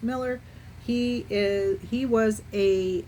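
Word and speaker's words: Muller: We're down to the last last suspect, Paul Miller. And the spelling of his last name is M U L L E R, but it is pronounced Miller.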